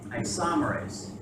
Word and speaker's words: isomerase: Isomerase. The accent's on the second syllable, so isomerase.